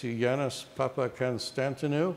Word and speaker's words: Yannis Papakonstantinou: His name is Yannis Papakonstantinou. Spelled like it sounds. Spelled the same way it sounds.